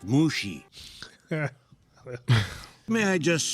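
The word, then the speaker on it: Mushi: Lee and Mr um mushy is it it's pronounced mushy may I just say you're like a flower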